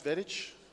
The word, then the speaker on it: Vedic: Just nod if it's Vedic, Sonia. Is it pronounced Vedic? She's in the zone, and thumbs up from Brooke. We've been saying Vedic for quite some time, so I'm glad that it's correct, at least close to correct.